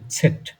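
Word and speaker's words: Zett: ইংলিশে বলেন আপনারা জেড, আর জার্মানে বলে হচ্ছে সেট। এই সেট দিয়ে যে সাউন্ডটা ঠিক এক্স্যাক্টলি ওই সাউন্ড আমাদের বাংলায় নেই।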